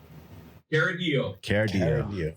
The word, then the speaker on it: Chiaradio: Chiaradio.